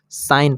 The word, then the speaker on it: sign: चलिए देख एग्जांपल से एस आई जी एन तो यहां पर ठीक नहीं पढ़ा जाता है साइन पढ़ा जाता है यहां